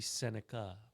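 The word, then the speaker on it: Sennecke: Correcting our pronunciations. It's supposed to be Senica. Very nice. Not Senaki.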